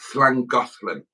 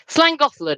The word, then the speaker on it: Llangollen: It's called Llangollen. Llangollen.